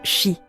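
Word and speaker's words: 四: En japonais, il se prononce chi, un mot qui signifie aussi mort.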